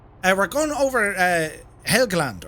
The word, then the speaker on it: Helgeland: we're going over uh helgeland or hegeland pronounced helgeland or eagleton uh we're flying over